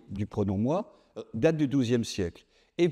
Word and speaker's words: moi: Ben non, on dit per moi pour moi. D'ailleurs, au passage, notez qu'on écrit O i, ce qu'on prononce WA, ce qui est une des merveilles de l'orthographe française quand même hein.